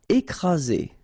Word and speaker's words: écraser: Écraser. Okay, double vowel, only one S, Z, and then you've got the first accent aigu, écraser. Écraser.